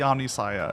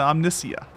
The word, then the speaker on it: Omnia: this entire time guys it's not the omnis it's the Omnia you